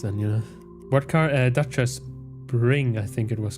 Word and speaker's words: Dacia: So in Romanian, it is said as Dacia. Dacia.